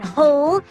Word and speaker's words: whole: whip and whistle and sometimes they have the sound of H in whole and hos but that's the exception does whoa great answer